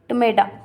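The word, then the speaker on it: TMEDA: है जिसका नाम है टोमेडो मेडा मतलब टी साइलेंट तो मैं नहीं बोलू because it इज नॉट a word तो टमेड़ा ठीक है इसकी फुल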